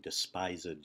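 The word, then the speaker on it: despisèd: says, the pangs of despised love. Okay, that shows us that Shakespeare probably meant for that E, the second syllable, or the third syllable of despised, to be pronounced separately.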